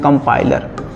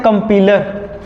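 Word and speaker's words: compiler: कंपाइलर, कंपाइलर बहुत सारे बच्चे इसको पढ़ते हैं कंपीलर, कंपीलर नहीं है कंपाइलर, टीचरों का ही पढ़ देते हैं कंपीलर। ध्यान रखना इस सब चीज़ का, कंपाइलर इसका करेक्ट प्रोनाउंसिएशन क्या है, कंपाइलर। ये कंपाइलर क्या होता है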